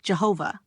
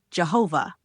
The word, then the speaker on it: Jehovah: And in Latinized form, Jehovah. The J comes from German where it is pronounced like a Y.